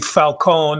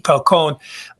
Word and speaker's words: Falcon: the key players in this story including Willie Falcone that's the correct pronunciation Falcone I did a lot of a lot of time with Willie Falcone it's it's basically his story H it's it's